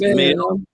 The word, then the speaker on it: Millican: And that is, and I always pronounce his name correct, unlike some people, Bishop Terrence L Millican. Yeah, it's Millican.